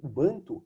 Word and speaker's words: bantu: banto é uma um tronco língua último banco bantu é o como se fala povos bando quer